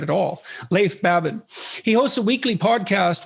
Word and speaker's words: Leif Babin: The Dichotomy of Leadership with fellow retired SEAL Leif Babin. Did I pronounce that right? It's actually Leif Babin. Oh, so I didn't pronounce it right at all. Leif Babin.